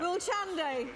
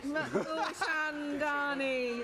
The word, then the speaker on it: Mulchandani: Mulchande. Mulchandani. There we go. Got the name. Got the syllables.